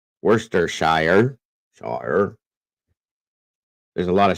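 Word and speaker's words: Worcestershire: that is hilarious easy for us Brits to pronounce it I bet it is actually it's Worster wur s t r Worster Shire sh there's a lot of shers over in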